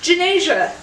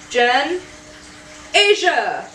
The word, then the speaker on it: Ganesha: can't say my name it's Ganesha Jen Asia think of Asia and put Asia and I'm like that